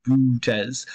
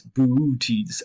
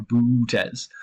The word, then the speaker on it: Boötes: You have to pronounce those two O's separately, not just one long Boötes. It's Boötes or Boötes.